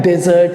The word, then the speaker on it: desert: अब इसका एक और मीनिंग होता है और इसका प्रोनाउंसिएशन भी अलग होता है। इसको हम क्या करते हैं? प्रोनाउंस वैसे ही करते हैं, लगभग सेम, डिजर्ट, है ना। तो वर्ड सेम है, स्पेलिंग सेम है, लेकिन पार्ट ऑफ स्पीच अलग हो जाता है और प्रोनाउंसिएशन अलग हो जाता है। जब हम कहते हैं डिजर्ट, DESERT, इसको जब हम डिजर्ट प्रोनाउंस करते हैं, that means we are talking about verb.